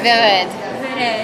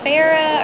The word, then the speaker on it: Vered: I lived in Tennessee nobody could really say my name they'd be like what is it Farah or verad or Verde and I'm like it's vered but you can just